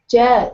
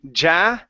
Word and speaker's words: yeah: Yeah, sounds great. Okay, very good. Let's go to our Y sound here. So instead of saying ja, it's yeah.